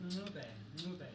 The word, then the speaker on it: Ncube: It's Ncube.